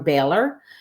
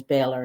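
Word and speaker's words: Boehler: And my last name is spelled not the way it sounds. Um, is my last name, but my maiden name is Balor, and it's, you know, B O E L E R. So, it's it's spelled differently than what it what how it how it's said differently and what how it's spelled.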